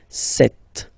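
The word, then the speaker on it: sept: all right then here remember B is not pronounced okay doesn't exist so you got this set sound set set okay then here final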